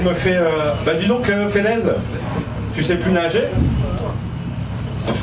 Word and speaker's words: Félez: Je suis toujours Félez, mais ça se prononce Félez, sinon ça fait con.